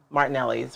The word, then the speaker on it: Martinelli's: shouldn't say a name Martinelli's right do am I saying that right yeah that's how I've always pronounce it sparkling cider from us